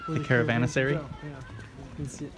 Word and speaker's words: caravansary: caravansary caravan acerra where the caravans would go caravansary oh yeah yeah there you go so this